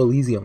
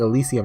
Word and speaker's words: Elysium: I finished Disco Elysium last night, which was a ton of fun. Also, I found out I've been saying Elysium wrong the whole time. It's Elysium. I'm gonna keep saying it wrong.